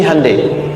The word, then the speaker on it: Hyundai: Sejak an TK itu ditanamkan betul kita bisa kita dari TK sehingga ketika di sana bikin Honda sini Handai. Hyundai kan dibacanya Hande ya kan sana Honda sini Hai gitu.